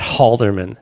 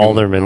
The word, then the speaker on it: Halderman: We'll just call him Alderman. Or You don't really pronounce the H on it, do you? It's not Halderman. You read his name second. Alderman.